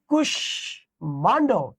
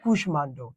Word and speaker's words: কুষ্মাণ্ড: যেমন দেখেন এই যে কুষ্মাণ্ড, তাহলে দেখো এই যে কুষ্মাণ্ড, সুস্মিতা, সুস্মিতা, কাশ্মীর, কাশ্মীর, দেখেন এখানে ম আছে, ময়ের উচ্চারণ বজায় আছে।